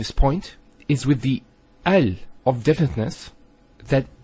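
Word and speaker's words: ال: point is with the AL of deafness that the hamster Russell is always pronounced so it's always ah Al bait Al Tamar and so on it's never UL it's never ill it's always l another session Bismillah now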